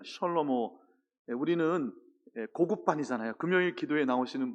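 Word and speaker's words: שלמה: 솔로몬을 히브리어로 발음하면 셜로모, 이 정도 됩니다. 셜로모.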